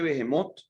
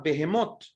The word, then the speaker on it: Behemot: y quiero pues no dejar de hablar de behemot Pero por eso no quiero dejar de mencionar